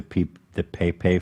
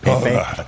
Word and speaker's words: Pepe: losing, there was a meme of like the Pepe frog. Am I saying it right? Nope. Fuck. Pepe? Pepe?